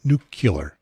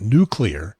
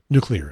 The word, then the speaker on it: nuclear: you spell that word but we're nucular spell that for me and they probably can't if you pronounce it nuclear you got a better chance nuclear is right of course so okay